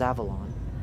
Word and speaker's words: Avelon: Description: Level 224, also known as Avelon, footnote, colloquially pronounced similar to the location of Arthurian legend, Avalon, end footnote, is a large mall, barren of any storefronts, signage, or functioning electricity.